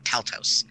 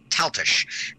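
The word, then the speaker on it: Taltos: my head by contrast the main characters last name as T alt OS which looks like tell tous but it's pronounced tell Tisch and you know that because he actually says that in the story he goes like I know I didn't know him because he pronounced my name like tell toes and that's not it it's like this and I'm like okay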